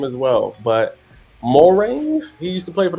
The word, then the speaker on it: Moehrig: I feel like I've mispronounced his name as well, but Moring. He used to play for the Trayvon Raiders. Moehrig.